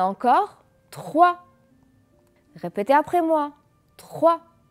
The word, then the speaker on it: trois: trois répétez après moi 3 et fait attention que le s ne se prononcent pas je ne dis pas trois c'est faux jeudi 3 d'accord voilà